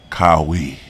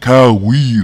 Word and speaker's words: Kawhi: finally mastered his name I'll no longer say Kyle we but Kyrie you Leonard who we hurry Michael